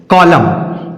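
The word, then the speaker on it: column: उसी तरह से कॉलम सी ओ एल यू एम एन कॉलम क्या लिखा हुआ है कॉलम आगे है एवा एम ए एम के बाद एन आया इसमें भी ए के बाद एन आया है तो हम एन को नहीं पढ़ेंगे सीधा-सीधा एम तक ही उच्चारण रखेंगे और इसे सही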